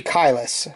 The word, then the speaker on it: Caelus: So, I'm going to go with the talking pronunciation, which means a and e together like this makes the i sound as in, you know, cry.